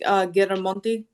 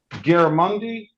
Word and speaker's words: Giramonte: It's actually pronounced Giramonte. Giramundi? Giramonte. Giramundi.